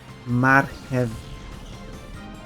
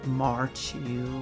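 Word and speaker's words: marchew: Marhev. Or as an English speaker would read that word as Marchu, which is of course not how you say it in Polish.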